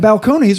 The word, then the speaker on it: Balcones: to order a nickel and balconies rhymes with cajones so there you go